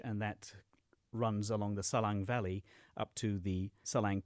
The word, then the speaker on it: Salang: I wonder if you might just want to describe this I don't know if I'm going to say it right, but the Salang Tunnel?